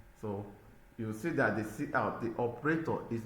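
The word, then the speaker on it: cout: Then we have see out pronounced as see out is an object used together with the insertion operator.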